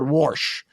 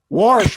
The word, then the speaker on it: Warsh: Uh hash anybody but warsh. Worsh. What is it called? What do you say? How do you say it, Sarah? It's like wash only. Worsh like from Okay, there we go.